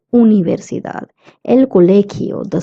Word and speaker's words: universidad: Now, U in Spanish would always be pronounced as U and not U. So that's why we're not saying universidad. We say universidad.